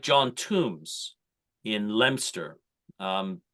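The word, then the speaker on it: Leominster: like John TS in lemster um spelled Leo Minster L Leo m i n s ER but spelled actually pronounced lemster um John Tums was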